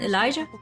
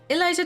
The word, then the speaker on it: Elijah: to me my name's Elijah by the way oh you do pronounce the J in Elijah I just wanted